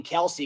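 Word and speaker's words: Kelce: and he said that apparently his father for the longest time wasn't correcting people and and he ended up kind of adopting kelsey because you just stopped correcting people at his job but apparently it's a kind of a division thing in the family half the family goes by kels and half the family goes by kelsey so they kind of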